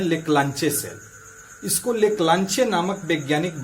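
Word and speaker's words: Leclanché: का दूसरा नाम है लेक्लांचे सेल। इसको लेक्लांचे नामक वैज्ञानिक बनाए थे, इसलिए इसका नाम पड़ गया लेक्लांचे सेल, लेकिन हिंदी में इसका जो प्रोनाउंसिएशन है वो लेक्लांसी कहा जाता है।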